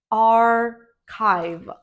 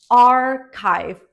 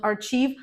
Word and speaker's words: archive: And finally, this word is archive. Archive, not archive, archive. Yes, usually CH is pronounced as ch in English, but there are many words when CH is pronounced as K.